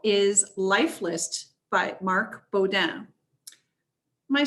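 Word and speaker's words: Beaudin: So our second honor title is Life List by Marc Baudin. Am I saying that right? Is it Baudin? That's actually better than my family pronounces it.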